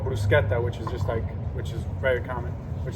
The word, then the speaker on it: bruschetta: of tomatoes, and because like this thing called bruschetta, which is very common, which is just like